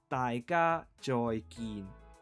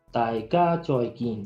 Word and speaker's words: 大家再見: The pronunciation is 大家再見. You got it? 大家再見. Yes, perfect. Okay. Okay, then on 3, okay? 3, Okay. 2, 1. 大家再見.